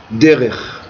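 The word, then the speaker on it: דרך: Un chemin en hébreu se dit derer. Derer, c'est un chemin. Ça s'écrit Dalet, Resh, Kaf.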